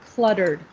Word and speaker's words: cluttered: so this is a this is a word that you might it's easy to say different than it sounds but in english you say the l sound cluttered cl clock yeah so it's kind of